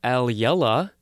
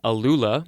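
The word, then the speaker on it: alula: at the word old the next word is aliela i thought it was a lula it's spelled a-l-u-l-a it's a palindrome by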